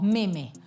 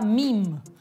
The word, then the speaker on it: meme: palabra en Sí nosotros en español decimos meme pero la palabra en inglés se pronuncia mim que es muy parecida